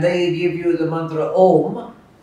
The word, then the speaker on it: Om: So the usual pronunciation should be with closing the lips. Om. Обичайното произношение с затваряне на устните, както го чухте току-що. But the Bengalis will say Om.